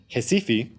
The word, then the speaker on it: Recife: Upon arriving in Recife, or as it's pronounced in Brazil, Recife, I just wanted to